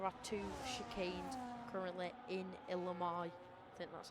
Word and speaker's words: Imola: Pretty much all two There are two chicanes currently in Imola. I think that's how I pronounce it. I can't remember. Il Imola, that's right. Imola.